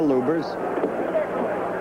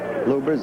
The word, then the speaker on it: Lubbers: against Rudy LS or lubers it's pronounced both ways luers is probably more technically correct anyway it's the way Rudy wants it said see how